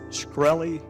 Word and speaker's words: Shkreli: Is it pronounced Shkreli? Yes, sir. See, there you can answer some questions.